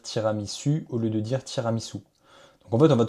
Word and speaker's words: tiramisu: Donc en fait, on va écrire ici ou pour que finalement Lia prononce bah tiramisou et non pas tiramisu.